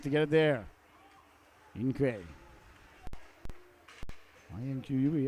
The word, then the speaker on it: Inque: I-N-Q-U-E, Inque, I believe would be how you say it.